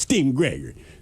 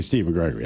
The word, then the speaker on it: Steven Gregory: I have two aunts that call me Steven Gregory, although it's pronounced Steen Gregory. So, make sure you say You can't just say Steven Gregory. I mean, it's got to be Steen Gregory.